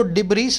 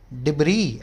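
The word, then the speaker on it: debris: उसने किया जाता है इसको डिब्रिस नहीं बोलेंगे इसको बोलेंगे डिग्री इस यहां पर साइलेंट है सरल नेवी शिप्स आफ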